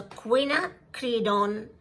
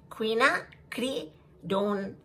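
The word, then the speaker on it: quinacridone: queena cree this way if you make it into three syllables um it becomes easy so queena creedon queena cree dawn magenta this color guys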